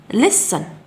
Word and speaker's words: listen: listen listen listen، لننظر جيدا إلى الكلمة. listen مع أنه توجد حرف تي، ولكن في اللغة الإنجليزية من القواعد لا تنطق تي.